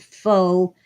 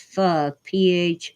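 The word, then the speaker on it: phở: There's this soup, the Vietnamese soup, it's spelled pho, but pronounced pho, Pho.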